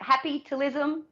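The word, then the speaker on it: Happytalism: i pronounce that right is that how we pronounce it happy talism yes absolutely tell us what that's about i'm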